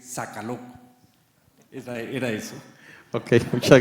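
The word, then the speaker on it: Sokolow: Me dice, "Socoló." Socoló. Sí, es que no has visto eso, dice, no se dice socoló, se dice saca loco.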